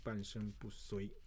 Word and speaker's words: 半身不遂: Okay, 半身不遂 that's called you have to pronounce as a 半身不遂.